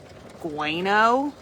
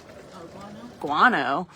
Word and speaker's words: guano: Don't know how to pronounce that. Um, sounds like gueno. Guano.